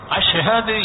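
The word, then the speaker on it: أشهد: எனவே அஷஹது என்ற அந்த ஷீன், அந்த உச்சரிப்பு சரியா வராது. அஷஹது என்று அந்த சீனுக்கும் ஷீனுக்கும் வித்தியாசம் இருக்குது அல்லவா, அந்த அஷஹது என்று அவர்களுக்கு சரியாக உச்சரிக்க போறாது.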